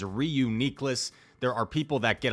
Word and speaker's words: Reuniclus: way not that way I looked up the official Pokemon pronunciation and it says re uniess there are people that